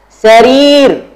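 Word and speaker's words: سرير: Nih ro-nya panjang ya, teman-teman.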